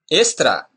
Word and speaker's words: extra: But if X appears before a consonant, it's pronounced S, S. As in Spain, star. Look. Extra, extra.